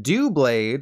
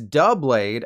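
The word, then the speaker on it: Doublade: is a little nuanced it's not do blade like do you want to go on a date with me Jennifer Lawrence a it's dub blade as in duh of course it said like double blade it has two blades the Pokemon that exists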